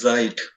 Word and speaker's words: Zeit: meaning is since yeah so this should be pronounced as zeit ah z-e-i-t like this yeah because uh uh